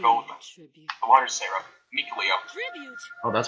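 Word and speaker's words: Mikleo: Mikuleo. Oh, that's how you pronounce it? I think I butchered the name. I said my Leiko.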